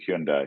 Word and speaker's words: Hyundai: was just like the way uh Roman says Hyundai I loved and that was that like yeah Hyundai I think you're pronouncing it improperly so I'm saying Hyundai yeah yeah it's Hyundai thank you sorry now that I'm assuming that